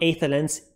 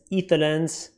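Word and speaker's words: Aether Lens: It's not aetherlens, etherlens.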